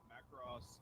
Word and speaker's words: Macross: Macross is the closest Americanization of the original pronunciation.